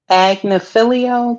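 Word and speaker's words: Agnifilo: But I just think Agnafilio, that's how you say his name.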